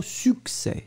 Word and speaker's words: succès: Ensuite, c'est le mot succès. Succès, et là, c'est intéressant parce que là, vous voyez qu'on prononce finalement ces deux C, suc, S-U-C, C-E, accent grave, S.